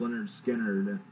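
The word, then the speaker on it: Lynyrd Skynyrd: there are more recognizable songs that are on pronounced Leonard Skinner, I just prefer Second Helping.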